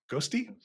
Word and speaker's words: Ghostty: you've been building a new terminal in Zig ghosty yeah is that how you say it yeah